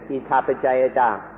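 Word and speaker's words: Idappaccayatā: So please be very familiar with ittapajayata.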